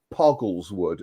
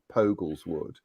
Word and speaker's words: Poggles Wood: mention to elizabeth that it is poggles wood and not pogel's wood no no don't go